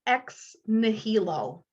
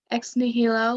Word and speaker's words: ex nihilo: keep preserve and maintain this is pronounced ex nihilo ex nihilo latin for out of nothing stewardship responsibility for care